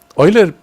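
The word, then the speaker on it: Euler: e l e r pronounced Oiler in English for whatever reason so Oiler proposed this problem you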